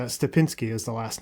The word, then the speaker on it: Stepinski: for taking the time I really and it's stepinsky is the last name right is that pronounced correctly corre excellent yeah so thank you